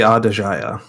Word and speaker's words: Aedejia: this little journey we're going on, the journey to the Aedejia, Is that how you say it? I have not known. yes, the Aedejia.